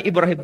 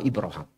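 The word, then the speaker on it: إبراهيم: dibaca ibr roham pertanyaannya saya yang betul itu bacaannya Ibrahim atau ibraham dua-duanya betul padahal sama-sama bahasa Arab tapi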